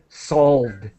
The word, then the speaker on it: solve: I just let me help you with solved. Solved and and and sorry solved. A d sound as quick as possible. And the e here is silent.